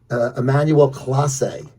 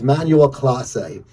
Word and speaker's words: Emmanuel Clase: This guy, he's their closer, 3-time All-Star, Emmanuel Clase is the pronunciation. I had to ask Jimmy, how do you pronounce this guy's name? Because it's close. I didn't know. So it's Emmanuel Clase.